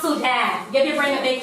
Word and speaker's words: Sudan: That's pronounced Sudan.